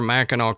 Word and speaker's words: Mackinac: And what what I'll get into where Mackeno comes from. But how come it's spelled like Mackinac?